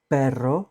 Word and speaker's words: perro: two main pronunciations okay when it appears at the very beginning of a word like in rido fast or when it's doubled r r r we have a combination of two RS double which sounds very strong like in pero but also it sounds a strong if is a single r at the beginning of the war for example Raton perro is in the middle but there are two RS perro means dog Raton means Mouse is at